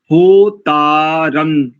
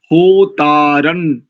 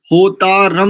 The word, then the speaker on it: होतारं: पुरोहितई यज्ञस्य, यज्ञस्य नहीं, यज्ञस्य देव मृत्वी जम, देव मृत्वी जम, होतारन रत्न धातमम, होतारन, होतारम नहीं करेंगे, यहाँ पर होतारन ऐसा होगा, रत्न धातमम।